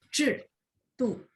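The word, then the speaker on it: 制度: Saya masih dengar ada i ya. Jadi kayak 制度, makanya tadi saya minta ulang 制. Jadi dia 不是 i, tapi boleh coba lagi 制度.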